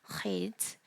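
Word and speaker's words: חית: 네, hate는 제가 발음에 유의하다라고 말씀드렸는데 발음은 표기하기로는 흐 발음이라고 표기를 하긴 하겠지만 여기에 이렇게 넣고 싶어요. 저는 괄호로 해서 그래서 특별히 목을 긁는 소리. 네, 그래서 흐라고 발음을 하시면 됩니다. 흐.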